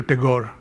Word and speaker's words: Tagore: Englewood is Taku the English anglicize it to Tagore and the Spaniards we'll call it a Garre